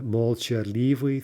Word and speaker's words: молчаливый: Now, here in the second line, we have a long adjective, молчаливый, right? Stressed on the молчаливый, third syllable.